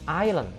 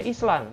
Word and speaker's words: island: itu bahasa inggrisnya tulisan seperti ini ya tapi dibacanya ilen ilen ileng2 jenderal bahasa inggrisnya bukan dibaca island tapi yang benar adalah thailand i am from